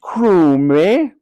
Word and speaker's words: Crumb: lot or indeed ever actually it's pronounced cro me corrected mother no it's